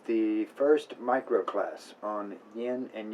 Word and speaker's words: Yin: That's Yin and Yang is how we pronounce it in Pinyin.